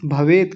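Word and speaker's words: भवेत्: क्षेमतरम नहीं क्षेमतरम और भवेत बस भवेत क्योंकि हलंत लगा हुआ है अगर हलंत ना होता तब बोलते भवेत तो अभी क्या बोलेंगे भवेत हो गया देखिए यदि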